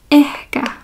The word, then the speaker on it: ehkä: And in Finnish, once you learn how to pronounce all the letters, the pronunciation never changes. And then the word for maybe is ehkä, ehkä.